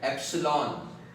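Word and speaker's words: epsilon: अभी इसको हम लोग pronounce करते हैं एप्सिलॉन। ये E जैसा जो दिख रहा है ना इसको क्या बोलते हैं एप्सिलॉन।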